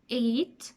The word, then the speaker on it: eight: end of them and they are silent GH our daughter slaughter no t straight wait eight fight height at the end of the